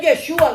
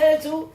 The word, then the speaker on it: Yeshua: leemos, Yeshua claramente dice, y se dice Yeshua, no se dice Jesús.